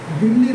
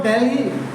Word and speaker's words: दिल्ली: बहुत से इसको दिल्ली ऐसा उच्चारण करते हैं, भाई वो अंग्रेज करते थे, उनको अच्छी तरह से हिंदी बोलनी नहीं आती थी तो इसको ऐसे पढ़ते थे, लेकिन हमारी दिल्ली है, इसको दिल्ली बोलेंगे।